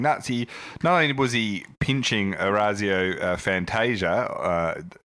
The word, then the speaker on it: Orazio Fantasia: c9 was he pinching Orazio Fantasia as Brian Taylor has told us is the correct pronunciation but also he tried